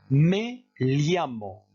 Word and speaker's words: me llamo: Ensuite, me llamo. Ici, vous prononcez comme s'il y avait un L suivi d'un I.